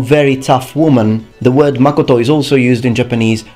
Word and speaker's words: Makoto: this case I can only tell you the pronunciation H H here's another one Mak Mak Makoto means truth or truthfulness although often I have